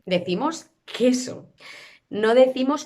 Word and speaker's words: queso: Cuando combinamos la Q con la U y la E o la I, la U no existe. No pronunciamos la U. No decimos queso, decimos queso.